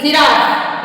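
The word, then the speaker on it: giraffe: जगह क होता है तो ऐसे ही अगर जी के बाद ई आई वाई आता है तो उसका उच्चारण ज होगा और अगर इन तीन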